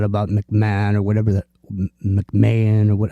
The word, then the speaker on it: McMahon: you find out about McMahon or whatever that McMahan or what how do you say this guy's name McMahon yeah Vince McMahon's wife so so it's pretty